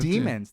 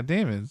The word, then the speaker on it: Daemons: say it's still like Daemons, but It's demons. They just don't pronounce the A. It's a silent A. That's how that works. No, they say Daemons in English. Do they? Yeah. Yeah, Daemons.